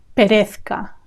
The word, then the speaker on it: perezca: Not the easiest to pronounce because of the Z next to the C. Z. Perez, the Z is th, and the C is k. Perezca. That combination is not easy.